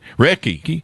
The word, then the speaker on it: Reiki: And is it pronounced Reiki? Is that... I heard that right, Don. Reiki.